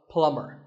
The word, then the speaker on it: plumber: pipes at your house you call him a plumber not a plumber the B is silent so plumber in fact in many